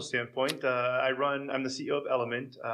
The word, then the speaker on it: Elumynt: Yeah, from a professional standpoint, I'm the CEO of Elumynt, which is spelled weird. It's E-L-U-M-Y-N-T.